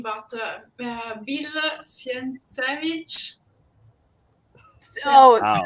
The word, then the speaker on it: Sienkiewicz: I'm sorry because I know now I spell very bad the name, but Bill Sienkiewicz. Oh, Wow, it's Bill. I can't even Oh, pronounce Bill that name. Sienkiewicz.